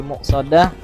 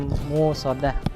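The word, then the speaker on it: مُؤْصَدَة: Yang terakhir di muqsadah dibacanya musodah. Nah jadi harus hati-hati.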